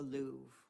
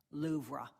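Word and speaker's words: Louvre: maybe take her to the Louv, which he pronounced as having two distinct syllables. Loura.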